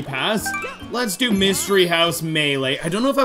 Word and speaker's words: Melee: or melee earlier because when i grew up i always called this mealy i'm like let's play super smash rose mealy that's what i always said but it's apparently pronounced melee all right so let's